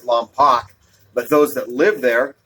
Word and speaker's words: Lompoc: If you ever see Lompoc, you might pronounce it Lompoc, but those that live there, my cousins, pronounce it Lompoc.